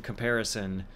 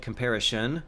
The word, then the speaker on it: comparison: rep I used I used to have recurring issues with pronouncing comparison and my whole life I've said comparision oh until YouTube until